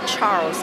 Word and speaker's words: Charles: Se escreve Charles, na verdade, mas em inglês é Charles que se pronuncia.